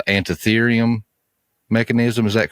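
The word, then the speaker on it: Antikythera: probably going to butcher the name but it's antium mechanism is that correct well I think it's hard to pronounce the anti cytheria mechanism yeah it's uh it's really interesting I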